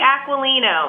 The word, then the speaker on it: Aquilino: you go and Carly what about you Carly Aquilino aquannia and see that's what I was putting